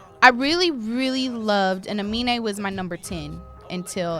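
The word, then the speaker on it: Aminé: How you say his name? Amine. Amine. That's how you Amine. say it. Amine. Amine. Amine. Amine. Amine. Yeah. Anime. No, not anime.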